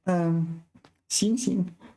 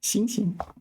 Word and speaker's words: 行刑: 一直到行刑的那一天 Yeah, this is one of these words where 行刑 where both syllables are pronounced the same. 行刑 The first 行 is carry out.